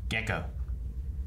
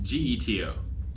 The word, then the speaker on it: Geto: Ghetto? Gato. Gecko. Gato. Geico. It's Geto.